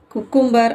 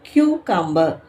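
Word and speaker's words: cucumber: அதுல first word என்னன்னு பாத்தீங்கன்னா சி எம் பி இ ஆர் இத குக்கும்பர் அப்படின்னு சொல்லுவாங்க பட் ஆனா அது கரெக்ட் கிடையாது கயூ கம்பர் இத எப்படி சொல்லணும் அப்படின்னு பாத்தீங்கன்னா கியூ கம்பர்.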